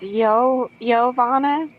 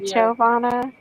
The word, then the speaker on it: Jhovana: So, it's Yo Yoana. That's not the Jovana.